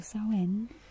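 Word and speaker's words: Samhain: but as you can see the word itself is spelled or differently so be careful with this one so so in is a druid name for Halloween it is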